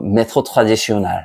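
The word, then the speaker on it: méthode traditionnelle: 방식 똑같아 재수없게 얘기한다면 프랑스 발음으로 매토트래디쇼날 영어로 하면 트래디셔널 매소드 전통 방식 소개할 와인이 뭐라고?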